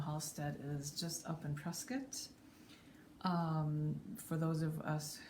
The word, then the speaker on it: Prescott: who don't know halstead is just up in prescott um for those of us who didn't know how to say press get it's pronounced prescott not prescott by the locals so if you